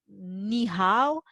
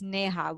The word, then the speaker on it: Neha: Oh, so I have to tell them, no, it's not ni hao, it's neha.